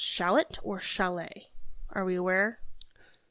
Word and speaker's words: chalet: So, we're I'm just going to go with chalet because it rhymes with valet and it sounds fancy and shallots spelled differently, I believe.